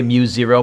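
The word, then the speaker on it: μ0: solenoid is equal to mu naught you can say mu zero but you'll sound way more impressive if you say mu naught and i had a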